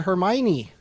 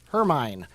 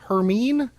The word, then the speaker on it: Hermione: you heard me correctly I said Hermione and not her mine turns out that her mine is the only way that's not correct to say her name I could have said her mean or Hermione and I think her mean sounds bad so I decided to go with Hermione as winter is on